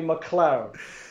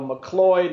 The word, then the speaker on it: MacLeod: mentioned oh yeah yesterday it said correctly MacLeod your chance said it wrong numerous times in his life Instagram posts and it started this you know McCleod mcrabbit's good because that's